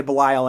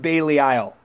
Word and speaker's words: Belial: of me for how I say Belial and it makes me giggle because it's not Bailey Isle it's an actually an old English demon named Belial Oh hey it's not Bailey Isle just because the Japanese say it that way it's it's not Bailey Isle its Belial the reason the Japanese